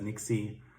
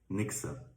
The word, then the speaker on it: Nixe: And finally, the thing Link is currently building, calling it like most other guys Nixie. We say Nixe.